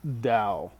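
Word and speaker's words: Tao: not thinking about the Dow t AO was how it's spelled it's spelled like tau but it's actually pronounced Dow it's uh it's really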